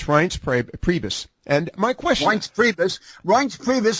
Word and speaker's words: Reince Priebus: I can't quite figure out how to pronounce Reince Priebus. Have I correctly pronounced that one? It's Reince Priebus.